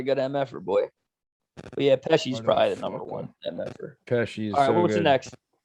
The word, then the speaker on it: Pesci: Yeah, it's Joe Pesci. You motherfucker. Joe It's like Pesci 2 is so syllables.